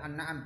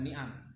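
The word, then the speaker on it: النعم: An-na'am, ya bacanya adalah an-na'am, bukan ni'am. Kalau ni'am jamak dari nikmat.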